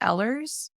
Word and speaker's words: Ehlers: condition called eers Danos I hear there's kind of a controversy on how that's pronounced or not I've heard a few different pronunciations how about you have you heard different ways to say it I a million different way I personally pronounce it Ellers but I mean EDS